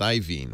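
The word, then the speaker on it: Iovine: yeah it's hard ien I'm told now it's pronounced ien which doesn't make any it's spelled IO i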